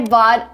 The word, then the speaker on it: bought: So instead of saying bought, you say bought. It is a fast D.